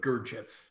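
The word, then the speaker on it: Gurdjieff: man a generation ago by the name of gurjev and that's spelled g-u-r-d-j-i-e-f-f a spiritual master and gurjev was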